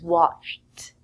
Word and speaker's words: watched: The simple past tense of watch is watched. It is a t sound at the end, but we spell it with an ed.